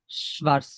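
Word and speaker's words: schwarz: এই যে সবার্স, এটা সবাস আমি না, মানে এর আগে উচ্চারণ ওকে, শ্বা, শ্বা, শ্বা, শ্বার্স, শ্বার্স, শোয়ার্স, শ্বার্স, হ্যাঁ, শ্বার্স, শ্বার্স, শোবার্স, শ্বার্স, শ্বার্স, শ্বার্স।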